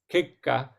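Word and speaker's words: kekka: It's so the double K there, the double K is kind of a pause, so it's Kika.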